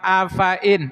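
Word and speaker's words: أفإن: Lafaz afain. Lafadin. Hati-hati fnya dibaca pendek. Hati-hati fanya dibaca pendek.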